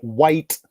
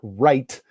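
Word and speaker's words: Wight: Interestingly enough, the Giant, aka Paul White, not Wright, as I mistakenly pronounced in my video and got shit for it a little bit.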